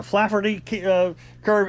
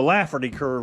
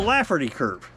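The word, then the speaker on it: Laffer curve: get it yesterday I kept calling it a flaffy curve it's actually called a laugherty curve I couldn't pronounce it right yesterday in yesterday's video but it's called The laferty Curve and it worked back in the 80s if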